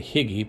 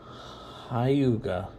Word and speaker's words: hygge: anyway there you go i was going to say higgy but it's high yoga however so difficult anyway